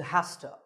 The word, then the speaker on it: has to: or a singular now we use has to which is reduced to hosta he has to do